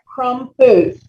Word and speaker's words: Crompvoets: Crompvoets. Say it again. Crompvoets. 2 syllables.